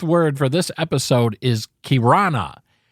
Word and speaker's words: kirana: enough the Wordsmith word for this episode is kirana spelled k-i-r-a-n-a kirana that's how you pronounce it I'm gonna put a link to